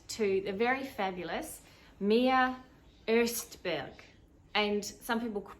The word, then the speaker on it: Ostberg: the very fabulous mia erstberg and some people pronounce it osberg but it's actually erstberg so there's that because she's part swedish um mia and i